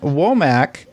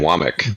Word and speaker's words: Wommack: special guest today wac is did I say it right no you didn't it's wck wck I am